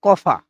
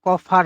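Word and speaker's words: Koffer: এরপর নাম্বারে যেটা আছে সেটা আছে কফা। তো এখানে কিন্তু উচ্চারণটা কফা হবে। ঠিক আছে? কফার হবে না।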